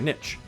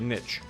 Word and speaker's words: niche: Step 2, pick a niche. I'm from the South. I say niche. And that is still acceptable. I don't care what the other YouTubers say. Niche is also acceptable, but I say niche.